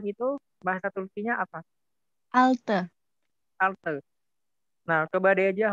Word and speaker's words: altı: Altı. Altı. Nah, coba deh aja hurufnya apa aja? Altı. A L T E.